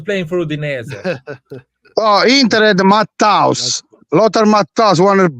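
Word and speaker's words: Matthäus: So yeah, you're saying it wrong though. It's Matthaus.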